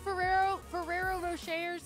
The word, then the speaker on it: Ferrero Rocher: And Ferrero Rochers are my favorite. I don't pronounce that properly. Ferrero Rocher.